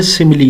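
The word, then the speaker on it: simile: अक्सर बच्चे कुछ इसको गलत प्रोनाउंस कर देते हैं। ब ये सिमली है।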